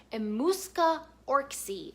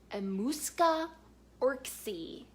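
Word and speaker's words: Emmuska Orczy: Next is the Scarlet Pimpernel series by Baroness Emuska Orczy. I always have to say her name very carefully. Emuska Orczy.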